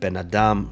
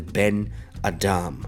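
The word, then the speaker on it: בֶּן־אָדָם: The accent shifts from the first word to the second word, placing the stress on the second word. So you have Ben Adam rather than Ben Adam.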